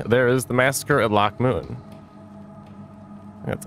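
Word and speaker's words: Loc Muinne: His later support for the witch hunters and their zealous cause, and finally, there is the massacre at Loch Moon. That's how you pronounce that.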